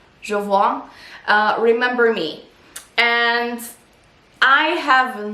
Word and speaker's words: Jovoy: Is that how you pronounce it? I think it's Jovoy. Jovoy.